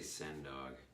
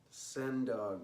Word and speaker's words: Sen Dog: Just say send dog. Sen Dog, there you go, 1965.